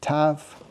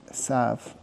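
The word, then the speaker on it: ת: So once again, the dag makes it a a strong sharp sound. T and without the dashesh s T.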